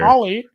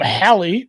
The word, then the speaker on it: Hali: I don't call him Holly. Holly is a is a Hind Hindu holiday or an Indian holiday. Holly. I'm going to call him Harley because that's how you say his name.